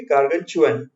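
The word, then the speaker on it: gargantuan: टी के साथ लगा हुआ है, यहाँ टी है लेकिन टी के होने के बावजूद हम बोलेंगे गार्गनचुअन।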